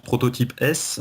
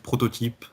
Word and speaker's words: prototypeS: lettre et c'est alors certains le prononcent prototype S mais dans mon esprit ça reste en fait prototype simplement au pluriel et le sachant que